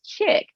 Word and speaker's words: Chic: And and so I also said, well, did they tell the founder of Chick Jeans, which is spelled CHIC, back in the 80s that he was pronouncing his brand wrong? No, it's Chick.